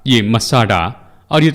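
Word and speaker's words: מצדה: के बारे में सुना होगा जिसका नाम है मसाटा या मसाडा जैसे इब्रानी लोग इसका उच्चारण करते हैं।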